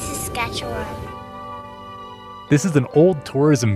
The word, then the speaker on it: Saskatchewan: come no just kidding I on Dad it's sasketchewan this is an old tourism video for Saskatchewan